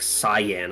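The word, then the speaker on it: Saiyan: I read it as like cyan. I remember I didn't know what it was. And then I heard sayan and started saying that and then I switched back to cyan because it pisses people off.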